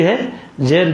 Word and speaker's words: हज: तो हा पर ज़बर भी है, ज़ेर भी है, लेकिन आम तौर से मशहूर हज है हा के ज़बर के साथ।